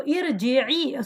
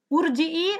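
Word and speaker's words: ارجعي: So irji'i. So how do you say this? Urji'i or arji'i? Irji'i. Very good. Right? So now in this ayah, you say irji'i. Why? Because the middle letter has a kasra.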